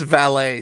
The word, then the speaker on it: valet: It's a French word.